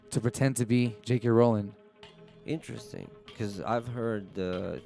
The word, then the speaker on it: Rowling: Rowling isn't a real person, and it's pronounced Rowling, not Rowling.